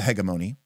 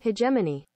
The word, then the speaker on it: hegemony: House of the hegemony the G is soft okay hold SEC Google pronounce all right let's see what oh my God this is an actual video I hate you so much oh man hegemony that is the American pronunciation hemony Pony ah that is the British pronunciation so there you go